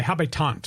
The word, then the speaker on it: habitant: Habs or the haves the habitant is the French pronunciation for the Habs oh so the hobby tant of the city of